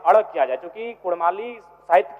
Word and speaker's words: कुड़माली: र के स्थान प अड़ किया जाए क्योंकि कुड़माली साहित्य की बात करें तो अड़ का महत्वपूर्ण